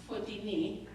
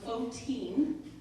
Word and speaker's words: Fotine: And in Greek, it's actually pronounced Fotini. But in English, we kind of tightened it up a little bit, made it a little easier. So Fotine, that's how you pronounce my first name.